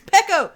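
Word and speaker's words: Peco: No, you say his name. It's Pecco. It's not Peacoat?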